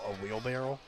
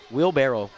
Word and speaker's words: wheelbarrow: Are you saying barrel? That's wrong. It's a wheelbarrow. Wheelbarrel. Barrerow. Spell it. Uh B A R R O W. Barrow. Wheelbarrow.